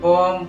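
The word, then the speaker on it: bomb: आप पढ़ रहे हैं बोम कोम डम थम ये गलत हो जाता है क्योंकि जब एम के बाद बी आएगा तो भी साइलेंट होगा जैसे इसको क्या पढ़ेंगे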